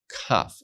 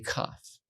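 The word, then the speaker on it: כ: something that we learned cough and you pronounce it as the sound Ka sometimes it appears with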